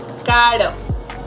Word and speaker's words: caro: Caro, caro, pera. As you can see, the tip of my tongue just touches a little bit my teeth, so it is a soft movement.